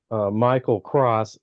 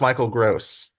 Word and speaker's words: Michael Gross: Has Kevin Bacon, and then it has this guy named Michael Cross who plays Dale, who's in basically all of the Tremors movies.